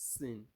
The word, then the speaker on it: سين: you are going to use S to pronounce sword. But the only difference is that you are going to let your lips be a little bit round while you are pronouncing the sword. But in the case of the sin, you make your lips to be flat, and you make your teeth to be what?